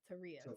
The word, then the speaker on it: Taurea: It's always like Maria Teria.